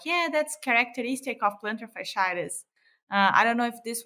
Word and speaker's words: fasciitis: this word facilities how do you say it fasciitis fasciitis so the the the magical diagnosis of